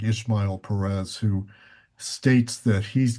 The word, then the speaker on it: Ismael: it's Ishmael. IS is not an H. IS is real. Sorry, Ishmael. Ismael Perez.